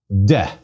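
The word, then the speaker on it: δέ: Please give it a try. De. Again, de. The epsilon is short.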